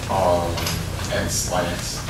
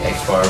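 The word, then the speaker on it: x̄: How would you pronounce that? Line X. Line X? No, not line X. Close. Maybe X bar, which is also the mean.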